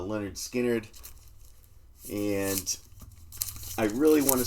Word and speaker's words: Lynyrd Skynyrd: And this is the the first one pronounced uh Leonard Skinnard.